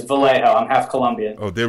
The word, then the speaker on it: Vallejo: out to eat it's it's always mispronounced but it's it's Vallejo I'm half Columbia oh